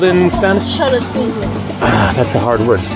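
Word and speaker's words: xoloescuincle: Cholo squinque.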